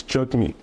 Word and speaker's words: Jagmeet: the pronunciation correctly it's jug me that's right okay actually you want to get like all in there it's the emphasis on the second syllable instead of Andrew be